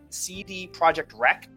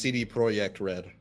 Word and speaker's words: CD Projekt Red: decided by the way I always just pronounced to see the CD Projekt wreck rats why no it's I could because because the project has like the Katy at the end and I just it's pronounced CD Projekt RED ah any project read